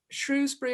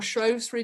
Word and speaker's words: Shrewsbury: Northampton, Richmond, also London, Shrewsbury or Shrewsbury, depending on your pronunciation, South London Interfaith Group,